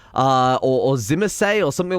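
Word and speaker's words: Tzimisce: similar that it's pronounced Simha C or Zimmer say or something like that the T is silent that's the important thing I think it's Zima C so that's how I'm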